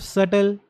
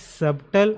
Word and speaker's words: subtle: Do you know the meaning of subtle? So this this particular word, it is not pronounced as subtle. I have heard students saying that B is silent.